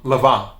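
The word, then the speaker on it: Lanvin: and that's not it the n in french is usually silent just like um lavon which is l-a-n-v-i-n which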